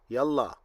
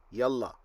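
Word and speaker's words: يلا: he is doing quickly you will say to him yallah or if you need to tell him yella i hope this video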